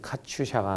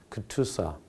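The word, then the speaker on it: KATUSA: 예, 우리 한국 사람들이 갖다 카츄샤라고 보통 발음을 많이 하는데 이제 정식으로 발음은 카츄샤가 아니고 크투사 이렇게 발음합니다.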